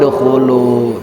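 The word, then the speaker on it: ادخلوا: Tapi huruf yang ketiganya didomakan. Berarti dibacanya bagaimana ini Bu? Ud. Udkhulu.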